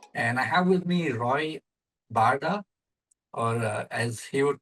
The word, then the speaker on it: Roy Barda: cyber security and I have with me Roy Barda or as he would pronounce his name Roy Barda.